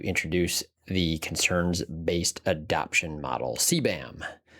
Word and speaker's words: CBAM: CBAM is actually how it's pronounced. That's how I pronounce it. There might be some people pronouncing it KBAM, but it's a framework called the concerns-based adoption model.